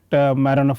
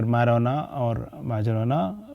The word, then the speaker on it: Majorana: So we introduced Majorana fermions because we thought that we want to find the motivation for Majorana, whatever way you want to call him, because J is pronounced as Y in some parts of the world.